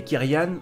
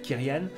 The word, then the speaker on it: Kyrian: des clients ou des kerian vous le prononcer comme vous voulez d'ailleurs moi je préfère dire kyrian j'ai été kyriad en